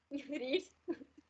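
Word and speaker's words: read: समझ आ पर बोल नहीं इट्स ओके आकांक्षा रीड आकांक्षा री बुक हा डेली है ना हा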